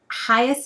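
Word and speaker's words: Hiaasen: uh the title um by Carl hias I think is how you say his name he's an adult author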